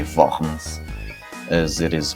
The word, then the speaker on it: Worms: of the assembly housed in the city of worms or should i say vans as it is pronounced the german and here martin luther was